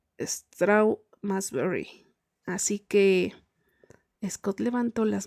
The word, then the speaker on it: Strawberry: ¿Hace mucho que trabajas en Straub y Berry? En realidad, dijo Kip fingiendo ofensa. Se pronuncia Strawberry.